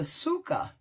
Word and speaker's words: Tsuka: today you ask well I'm gonna use the sukkah that's how it's pronounced and this is based on many mores